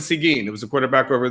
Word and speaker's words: Seguin: this uh in arlington is it it's seguin high school am i saying that seguin yeah he went to see gene it was a quarterback